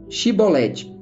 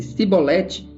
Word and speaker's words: chibolete: respondesse que não diziam Então diga chibolete se ele dissesse sibolete sem conseguir pronunciar corretamente a palavra prendiam e matavam